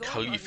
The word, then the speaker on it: Khalif: me further interesting that Khalif is pronounced more like with an H sound like Khalif lead the way I'm